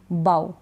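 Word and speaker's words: bough: यू नहीं पढ़ा जाएगा ओ यू के बाद ये जीएच नहीं पढ़ा जाएगा ओ यू तक ही स्पेलिंग हम पढ़ेंगे बाउ क्या पढ़ रहे हैं बाउ तो जीएच नहीं पढ़ा जा रहा ठीक है स्पेलिंग में तो लिखा जाएगा लेकिन पढ़ा नहीं जाएगा आगे क्या है जैसे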